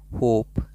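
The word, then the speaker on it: hope: ई silent होता है एच ओ पी ई होप spelling में लगेगा लेकिन पढ़ने में साइलेंट रहेगा होप इ साइलेंट जोक ई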